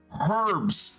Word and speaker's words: herbs: It just figures you'd know about herbs, Welkin. Herbs. Herbs. The letter H is at the start of that word.